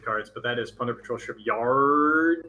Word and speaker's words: Plunder Patrol Shipyard: Yeah, now, I usually don't correct people on pronunciation cards, but that is Plunder Patrol Shipyard.